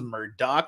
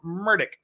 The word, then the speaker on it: Murdoch: words uh which pronunciation am I supposed to use the one that everybody uses murder the one that his close friends and half of his legal team use Murdoch or the way he pronounces it himself murdick so which one